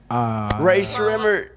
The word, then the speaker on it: Rae Sremmurd: to get to work teaching everyone how to pronounce their name murder ray shrimmer that was good uh good to me what's